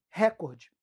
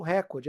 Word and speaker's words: recorde: plano é a palavra recorde. Todo mundo fala recorde. Eu tenho um recorde, é meu recorde de horas de estudo. E a pronúncia correta é recorde, tá? É recorde. Beleza?